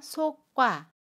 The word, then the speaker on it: 속과: 그래서 거치가 됩니다 겉이 두번째로 속 관이 은 속과 라고 발음 해요 소개 바친 기억 뒤에 자음 기억이 오면 저 소리 자음 기억을 쌍 기억으로 발음 해요 그래서 속과 아가 됩니다 된소리 되기 에요 속과